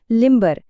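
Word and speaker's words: limber: यहाँ हम साफ साफ ब की आवाज सुनते हैं, लिम्बर। ऐसा क्यों? क्योंकि यहाँ बी शब्द के बीच में है और एक नया सिलेबल यानी ध्वनि का हिस्सा शुरू कर रहा है।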